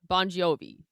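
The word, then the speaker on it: Bongiovi: His actual last name is is spelled B O N G I O V I. Bonjovi.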